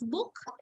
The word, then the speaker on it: Buch: So remember the pronunciation. When it's single, it takes the pronunciation of k, and when it's plural, it takes the pronunciation of sh.